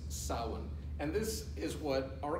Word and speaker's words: Samhain: But it's pronounced Samhain.